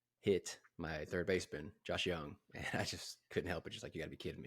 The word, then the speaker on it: Jung: last year for Josh Young Josh Young Jung young young so you don't pronounce the J nope Josh Young yeah